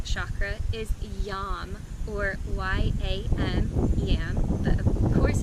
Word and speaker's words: yam: The Sanskrit mantra for this chakra is Yam, or Y-A-M, Yam, but of course pronounced Yam.